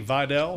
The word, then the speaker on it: Vidal: We're talking about Kainani Vidal? That's what I am, yeah. Vidal. Yes. I was thinking that might be a suit company. Rhymes with Wydell.